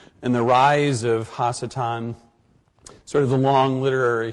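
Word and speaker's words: ha-satan: a number of reasons not the least of which is the fact that it's not anglicized and also normally in the past as i discussed the figure of hachitan and the rise of hasitan sort of the long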